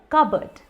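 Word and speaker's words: cupboard: अब स्पेलिंग तो कप और बोर्ड है, बट आप इसको कप और बोर्ड की तरीके से मत बोलिए, ये है कबर्ड, कबर्ड।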